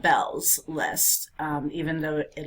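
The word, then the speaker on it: Beall: um there came about this platform online called Bells list um even though it looks like it's pronounced Beal it's Jeff Bell um and he took it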